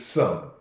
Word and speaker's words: some: Because the silent E is supposed to make the other vowel sound like itself. But it's not so. It's some.